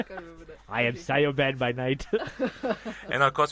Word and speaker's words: Siobhan: Siobhan is actually pronounced as Siobhan. Siobhan, yeah. In Gaelic. Okay. I thought it's pronounced Sobin.